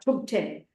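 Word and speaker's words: Thubten: got from Lama Zopa to 10 and in the first syllable H I'll explain this in the letter t h u b it's an aspirated t t it's not th it's t tub was one of the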